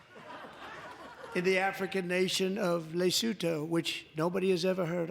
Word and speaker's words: Lesotho: Although, to be fair, he did pronounce it wrong because the country is called Lesotho.